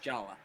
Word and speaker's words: Jaller: It's pronounced Jala.